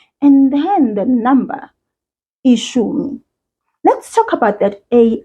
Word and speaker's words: ishumi: Ishumi. That SH sound is pronounced exactly like it is in English. Think of the word shoe. Shoe. Ishumi.